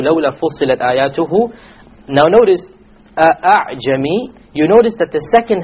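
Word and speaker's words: أعجمي: It is not a pure Hamza, and it is not a pure Alif.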